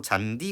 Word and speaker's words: 잔디: 대표적인 예시로 잔디 같은 단어가 있죠. 얘는 하나의 형태소란 말이죠. 그래서 얘가 디귿과 이가 만났음에도 불구하고 이거를 잔치라고 발음하지 않는 그런 것들을 확인해 볼 수 있습니다.